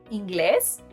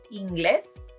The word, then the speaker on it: inglés: If we were to change it, the result would be íngles, which actually means groin, and doesn't need an accent mark, the other result would be al réves, which doesn't exist in Spanish.